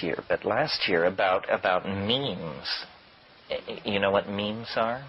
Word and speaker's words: meme: but last year, about memes. You know what memes are? Memes are the smallest units of a concept. And they're like genes. The word is deliberately constructed to rhyme with gene.